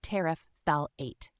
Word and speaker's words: terephthalate: This can be a bit tricky, but it's pronounced as terephthalate. Here, ter sounds like the start of the word terrible. Thal is similar to the word phthalic, and ate is like the end of create.